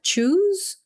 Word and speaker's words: choose: Lembrando que a gente não fala esse E que está aqui no final para pronunciar em nenhum dos dois casos. Então, a gente vai falar choose, choose, choice, choice. Então, não fala choose e não fala choice, tá?